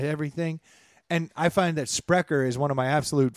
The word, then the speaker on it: Sprecher: beer so it's called sprecher sprecher what is it how do you spell that SPR e CH er yes prick his speak